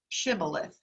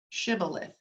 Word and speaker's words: Shibboleth: give you an idea his word is actually pronounced Shibboleth Shibboleth it is a Hebrew word from the book